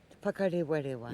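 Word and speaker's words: Whakarewarewa: I'm not very good at the pronunciation. You say it. All right. Whakarewa.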